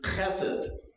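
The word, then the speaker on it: חסד: And so I can pronounce this, chesed, mercy. And I've had you practice this before, so I know you're good at it. Let's say it together. Chesed. Say it like you mean it. Chesed. Yeah, you got to clear the throat a little, you know.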